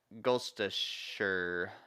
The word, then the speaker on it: Gloucestershire: Gloucestershire is how you say it. Is the country? Yeah, I can spell it out for you.